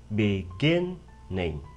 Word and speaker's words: beginning: Nhớ nhấn vần thứ hai, beginning.